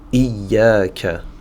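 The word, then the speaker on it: إِيَّاكَ: Ici, on va directement sur le ya, qui possède une shadda, donc je fais attention à ne pas dire iya, iya. Je vais dire iya, iya, d'accord? Le alif, ici, justement, va servir à prolonger la fatha sur la lettre ya, munie d'une shadda. Iya, iya, iyaka.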